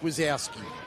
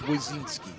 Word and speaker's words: Wazinski: As they said, it's not Mike Wazowski, it's Wazinski.